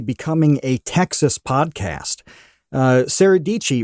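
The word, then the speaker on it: Dietschy: Sarah Dici rhymes with Peachy.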